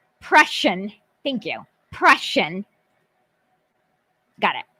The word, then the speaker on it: Prussian: say tweet out a video of how to pronounce things brush prussian thank you prussian got it yeah anytime i